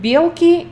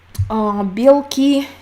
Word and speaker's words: белки: Белки and белки. Tiny difference in pronunciation, but big difference in meaning. Meaning protein and squirrels.